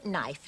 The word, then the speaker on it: knife: One doesn't pronounce the K these days. It's no knife, knit, knock, knee, knuckle, and knight.